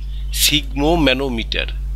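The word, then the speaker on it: sphygmomanometer: Blood pressure সিগমোম্যানোমিটার বানানটা, এস মানে পিএইচ এর প উচ্চারণ হয় না কখনো, ফ হয়, সিগমোম্যানোমিটার।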